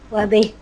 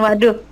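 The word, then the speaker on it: واضح: Wadih. Bukan waduh. Kalau waduh enggak.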